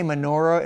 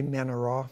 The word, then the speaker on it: menorah: men are wrong we we say menorah in english but it's really minor in in hebrew he always accent like the last syllable so you know you